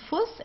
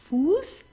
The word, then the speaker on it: Fuß: It's not Fuß, it's not draußen, it's not grüßen. Okay, it's Fuß, draußen und grüßen.